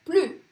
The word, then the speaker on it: plus: Esse plus aqui, eu não vou pronunciar esse S, mesmo que ele esteja antes de um ponto final. J'en peux plus.